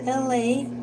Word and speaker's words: Elay: All right, welcome to LA. My name is LA, pronounced like LA, like the city I'm not from there, but I'm breezy.